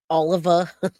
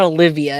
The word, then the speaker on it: Oliva: Oliva. It's not Olivia, it's Oliva.